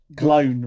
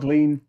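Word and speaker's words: Gleann: Alt. Glown. Rhymes with clown. Clown. Like clown with a G. Clown with a G. Or glown, yeah. Like a gangster clown. Not glean.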